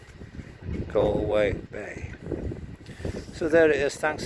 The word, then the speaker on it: Galway Bay: Galway Bay, rhymes with lay, way, hey, Galway Bay.